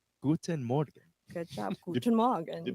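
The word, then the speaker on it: Morgen: tell our foreigner friends we emphasize the but when we do say it like daily we just say mo like it's more smooth and fast without like it's mo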